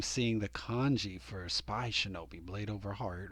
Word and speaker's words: 竊盗: But you can see the hiragana next to it, shinobi. Okay, so this is all, it's all being pronounced shinobi, but it's clearly discussing militarized thieves.